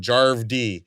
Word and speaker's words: Jarv D: And Jarv D. It's like Harv with a J. That's Jarv.